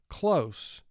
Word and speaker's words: close: Now, what would happen if the S represents its second sound? How would you pronounce that word? Close. So, that's a totally different word.